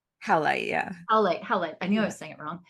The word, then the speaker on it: howlite: And I was like, oh, can I just put this hemolite like just under your, it's hemolite, right? Howlite, yeah.